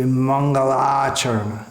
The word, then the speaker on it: Mangalacharana: means an auspicious invocation, is sometimes pronounced as Mangalacharan. It should be Mangalacharana.